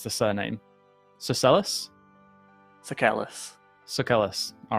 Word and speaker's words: Sucellus: Okay, Ed, how do we pronounce the surname? Sucellus? Sucellus.